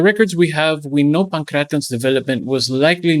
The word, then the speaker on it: pankration: That's why it's important to pronounce Pankration correctly, as it makes it much easier to